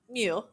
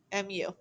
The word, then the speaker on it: mu: front and a tail and back and that's pronounced mu mu so it's not an m it's not a